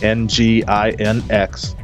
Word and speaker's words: NGINX: And this technical training webcast will explore common misconfigurations of, I don't know how to say it, so I'm going to spell it NGINX. The damage they could do. Say it again? Nginx. Nginx.